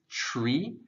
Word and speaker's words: tree: So you want to make sure you draw out the tr. It's sort of like a mix between a T and a CH.